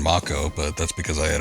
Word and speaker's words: Mako: to me but um I did say Mako and people had uh issues with that they're like why don't you say moo well that's how they say it in the game so that's just what I'm going to go by well what the